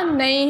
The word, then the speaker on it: knee: वो होता है KNEE, के आता है लेकिन के पढ़ा जाता नहीं है, बोला जाता है ऐसे ही नी। ओके, तो के जो है उसे साइलेंट लेटर बोलते हैं, जिसे लिखा जाता है लेकिन रीड नहीं किया जाता, पढ़ा नहीं जाता। ओके, तो उसका जो प्रोनाउंसिएशन होगा वो नी होगा।